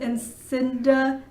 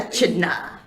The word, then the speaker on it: echidna: Yeah, Sonic is a hedgehog, Tails is a fox, Knuckles is an Encinda. I can never pronounce it.